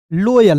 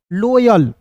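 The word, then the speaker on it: loyal: पढ़ेंगे जोय फिर देखिए एल ल ओ का उच्चारण औ के रूप में वाई ए का य और एल का लिखेंगे दोस्तों लयल नाम लिखना आपने सीखे होंगे ना तो यहां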